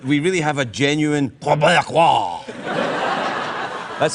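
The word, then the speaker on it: Québécois: There's a few simple tricks that we can perform to make sure that we really have a genuine Quebecois. That's how you pronounce it.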